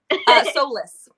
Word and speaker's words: Solis: Did I pronounce that right? Solis.